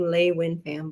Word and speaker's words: LeUyen Pham: hale and that's me that's how i used to pronounce my name lei winfam believe it or not it doesn't look like it but that's what it is oops and i always